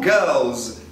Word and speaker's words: girls: O proud de boy é boys com z em posição final, assim como girls também vai ser z em posição final.